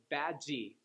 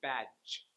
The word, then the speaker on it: badge: And it's kind of like the syllable, how it's like big, pig, and instead badgy. Learning how to drop that E and just keep the consonant at the end, badge, badge.